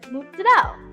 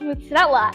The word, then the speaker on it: mozzarella: like, yeah, I'm gonna get just, tomato with mozzarella. And they go, what's that? And I go, mozzarella. And they go, what's mozzarella?